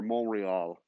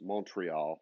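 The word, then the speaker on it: Montréal: on full set so or monreal which is montreal but in french you don't say the t because in french you don't say half of the letters which is annoying but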